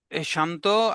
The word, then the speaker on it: she: ওকে, শান্ত, আপনার একটি ওয়ার্ডের উচ্চারণ একটু রং আছে, সেটা হলো সি। সি বলেন, উচ্চারণটা আসবে শি।